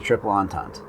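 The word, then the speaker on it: Triple Entente: are two choices the central powers or the triple antons yeah i had to look up that pronunciation as far as the style of planes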